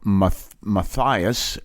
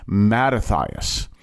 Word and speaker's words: Mattathias: Turns to a man by the name of Ma Matias. And let me make sure I pronounced that name right. Um, nope. I knew the minute I said it. I said, "No, that's not his name." Mattathias.